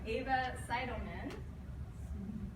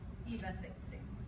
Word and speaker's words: Eva Seidelman: Number two, Ava Seidelman. Did I say it right? Eva Seidelman.